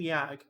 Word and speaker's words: Yag: You pronounce the G in Yag. It is not silent. It is very not silent.